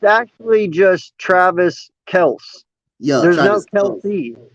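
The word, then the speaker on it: Kelce: morning with uh travis kelsey i think i did we've all been pronouncing their last name wrong this whole time everybody pronounces it kelsey it's actually just kels you don't even have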